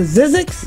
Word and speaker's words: Zzyzx: the top now collectively you guys is it pronounced to Zzyzx yeah now is that I'll get that from